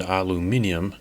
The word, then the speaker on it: aluminium: Yes, I know our European friends pronounce it aluminium.